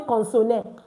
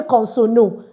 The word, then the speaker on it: consonne: I did not say consonne. I did not say consono. I just said consonne. Why? The E is not pronounced at the end of our French words.